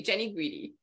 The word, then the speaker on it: Jeni Guidi: today and I was like no am I pronouncing that correctly Jenny greedy yeah beautifully I've heard some nice variations but